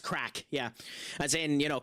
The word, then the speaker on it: craic: Crack is how it is said. Yeah. Yeah. C R A C is how it's how it's pronounced.